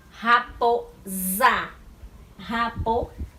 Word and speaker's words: raposa: Raposa, ó, o O e o A, e o S no meio, mas raposa, nós escutamos o som do Z, mas a escrita é com o S, viu?